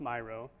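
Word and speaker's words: Miro: a company called Myro I used to call it Meo but it's pronounced Myro they developed Mambo to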